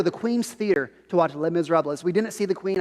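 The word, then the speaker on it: Les Misérables: be cultured uh it's the s is silent it's le miserables not les miserables i learned this just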